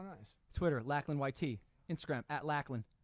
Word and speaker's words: Lachlan: Instagram at Lachlan. Pronunciation, Lachlan.